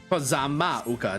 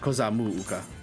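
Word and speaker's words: Kozama'uka: Kozama-uka, not Kozamu-uka.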